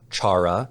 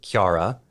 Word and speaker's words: Chara: her name is not Chara her name is Kiara so is it yeah it's it's like the first two syllables of the Japanese way of saying caramel oh okay yeah so